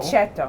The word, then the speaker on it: aceto: how do you say Aceto, aceto?